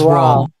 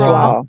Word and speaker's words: Rawle: Does anyone know how to properly pronounce his name? It was Rawle. It's Rawle.